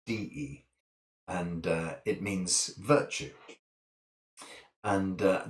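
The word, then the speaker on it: 德: in the Western world you sit as te but it's actually de and it means virtue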